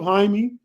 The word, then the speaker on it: Jaime: It looked like it's spelled Jamie, but it's Jaime.